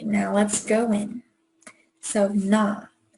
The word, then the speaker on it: 나: So na. It's the ah sound but an N in the front.